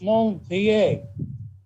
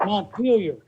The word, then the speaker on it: Montpelier: It's Montpellier. We call it Montpelier.